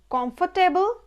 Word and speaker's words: comfortable: We generally pronounce poem, but it's not poem, it will be poem, poem. Next, comfortable, যেহেতু এই শব্দটার মধ্যে টেবল আছে, আমরা দেখবেন গর্বের সঙ্গে বলি টেবল, কমফোর্টেবল।